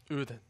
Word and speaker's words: Odense: He told me how to say it. So it's O-H. Oh. It's more like a ooh. And then Den, D-E-N. Yeah. But you say it more like then. Oden. Ooh. Uden.